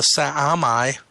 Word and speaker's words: Sa'amai: Their planet is called the Sa'amai, 3 syllables.